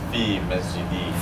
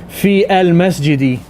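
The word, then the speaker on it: في المسجدِ: If alif and lam is there, if alif and lam is there, There's no fil, it's just fi masjidi. fi masjidi, in my masjid. You can't say fi al masjidi. That's just wrong.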